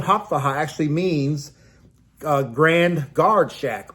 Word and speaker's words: Hauptwache: The station was called the Hauptwache, spelled Hauptwache, but pronounced Hauptwache.